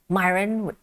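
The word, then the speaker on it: Miran: And they must know that this guy, Myron, rhymes with siren, is now teeing up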